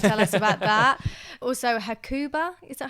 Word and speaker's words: Hakuba: Also Hakuba, is that how you say it?